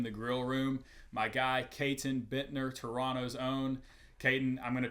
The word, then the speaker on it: Caton Bittner: grill room my guy Kon Bitner Toronto's own Kayon I'm GNA try so hard to overcome my Southern accent and properly pronounce the te's in your name not Kon Bitner um so call me